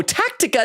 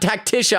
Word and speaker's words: Tactica: Uh oh, Tactica, not Tacticia. I'm sorry I'm saying it wrong.